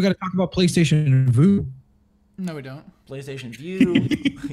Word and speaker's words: Vue: V-U-E. It's Vue. If you spell that, it's Vu.